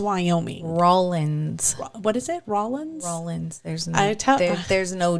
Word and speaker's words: Rawlins: she said something about oh we're in Rawlings and he's looked at her and he's like no you're in Rollins Wyoming there's no G I just don't pronounce